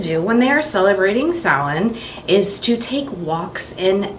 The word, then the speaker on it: Samhain: It's spelled S-A-M-H-A-I-N. So it looks like it says Samhain, but it's a Celtic word and it's actually pronounced Samhain.